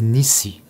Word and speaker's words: Nisí: Cet après-midi, avant de quitter mon île, j'ai écrit sur le sable N-I-S-I avec un accent, prononcé Nissi.